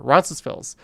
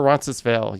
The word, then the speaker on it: Roncesvalles: Roncesvalles. Or Roncesvalles. You could say it one, you could say it the other. It doesn't really matter. Even the local residents don't know how to say it.